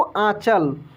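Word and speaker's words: आँचल: और यहाँ पे देखेंगे ये है चंद्र बिंदी। जैसे आंचल, आंचल कैसे पढ़ेंगे इसको? आंचल।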